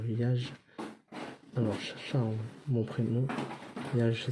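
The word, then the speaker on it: Yaj: Yage, ça s'écrit Y-A-J.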